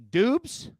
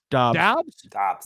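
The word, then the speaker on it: Doubs: pronounce it incorrectly uh romeo dubs dabs dubs that's right dobbs yeah c said that earlier today romeo plus 1200 or khalil herbert plus 1500.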